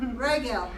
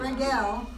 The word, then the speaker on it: regal: yeah there you go regal not regale the problem is that once you learn to pronounce a second syllable that you want to do it all the time so but it's regal not regal bread let him